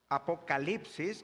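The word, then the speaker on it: ἀποκάλυψις: Otra cosa que aprendimos, que la palabra Apocalipsis viene del griego apocalipsis, que se pronuncia igual que el español, pero la palabra significa revelación.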